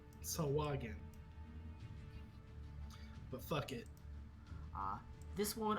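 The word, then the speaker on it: Sahuagin: It looks like it is pronounced Sahwagan. Sahwagan.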